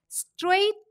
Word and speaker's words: straight: l l is silent then straight the silent alphabets or letters are g and h in more the silent